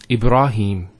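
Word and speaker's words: إبراهيم: sound next word Ibrahim so here a rah notice here the raw fat ha followed by the Elif once again it's a a long vowel e bra no e bruh libera libera and then he Ibraheem he the Hat has a Cara followed by the air so here is the elongation of the e sound its he him Ibrahim similarly here we have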